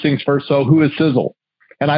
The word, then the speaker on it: Sisel: stand for something it's right in our name sizzle it's spelled s-i-s-e-l it's an acronym the first letter